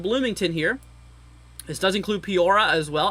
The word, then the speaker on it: Peoria: This does include Peoria as well. I think that's how you say it, Peoria. Not Peoria, it's Peoria, I think.